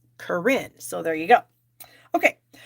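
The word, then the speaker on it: Karin: is spelled k-a-r-i-n and she pronounces it Corinne so there you go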